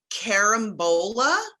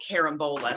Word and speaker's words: carambola: These are called carambola or star fruit.